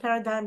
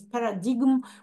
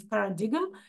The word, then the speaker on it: paradigm: word Paradigm right um I believe in English it's pronounced Paradigm in Russian it's pronounced as Paradigm right the letter G is pronounced so uh again you